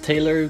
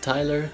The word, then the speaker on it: Taylor: were confused on the how to how to pronounce the the name and I'm going with Taylor because it's belt Taylor and not Tyler so there you go comments section so let's